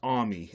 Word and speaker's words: AUMI: the acro acronym uh which i pronounce army a u m i and uh the idea